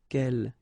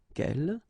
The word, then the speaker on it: quel: good news is that if you listen carefully, quel, quel, quel, quel, okay, so phonetically you get only one form. Of course, when you get this S, well, if you've got a vowel after, then you will have to make this liaison. But then clearly the basic form like that, phonetically it's the same.